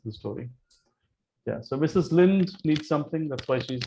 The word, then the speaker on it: Linde: Lind, not Linde? Yeah, it's Lind. It's not a Maharashtrian. It's a Scandinavian Lind, Lind.